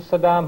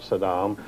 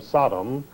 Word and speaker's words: Saddam: pronounced mispronounced his name he always called him Sodom uh as though he were trying to call him a sodomite I don't know but